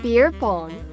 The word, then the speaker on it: beer pong: 彼はちょうど庭で鶏を追いかけてたらしいんですね。その前はチャーリーという友達とビアポンをしてたそうです。ビアポンでビアポンという遊びらしいんですが、Joe, what is this beer pong? In the correct English pronunciation, it's called beer pong. Beer pong. Right, like ping pong.